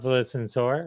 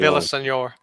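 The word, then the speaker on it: Villaseñor: But Melissa Villasor, all right, I've said her name wrong, but Vel- like Villasenor. Villasenor.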